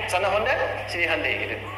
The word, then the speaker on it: Hyundai: Hyundai kan dibacanya Handeai ya kan. Sana Honda, sini Handai gitu.